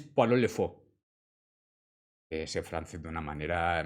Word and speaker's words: Pierrot le Fou: Creo que para pronunciarlo bien es Poirot le Fou.